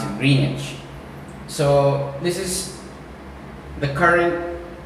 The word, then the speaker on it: Greenwich: which is actually spelled as Greenwich, but we pronounce it Greenwich.